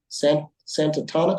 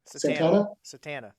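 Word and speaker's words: Satanta: Went to a small town, Santana. How do you say it? Satana.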